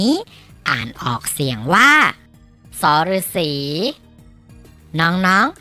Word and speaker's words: ษ ฤๅษี: มอง เห็น อยู่ นี่ อ่าน ออก เสียง ว่า สอ รือ สี น้อง ๆ ฝึก ออก เสียง ตาม ที่ มะตูม